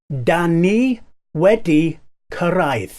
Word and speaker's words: Dan ni wedi cyrraedd: say it slower so you can get the pronunciation Danny weddi caride Danny wedeck arrived have we arrived well that's